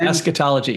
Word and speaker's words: eschatology: Eschatology. If you can figure out how to spell it. You will not be able to. There's a CH in there. Yeah. It's like school, eschatology.